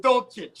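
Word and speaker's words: Dulcich: greg dolcich is that that's the rookie uh titan pronounced dolce don't cheat uh raheem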